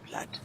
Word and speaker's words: blood: to to flood and you also need to say blood you don't say blue you say blood it's it's an exception to the rule perfect so if you